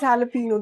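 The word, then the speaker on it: jalapeño: Okay, so this is jalapeno. They pronounce J as H.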